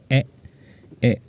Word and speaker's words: へ: now the directional particle h e in spelling but he pronounces as e e just like a vowel so please screenshot this